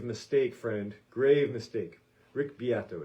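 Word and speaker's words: Beato: i followed was uh taken from a rick biato video and if you aren't following rick biato on the tube of views and you're into music you're making a grave mistake friend grave mistake rick biato it's spelled beto like b-e-a-t-o he does a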